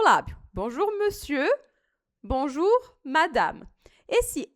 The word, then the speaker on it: madame: A letra E em final de palavra em francês, a gente não pronuncia.